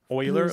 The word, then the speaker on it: Euler: Euler, like O-I-L-E-R, Euler? Well, it's spelled E-U-L-E-R, but he was Swiss.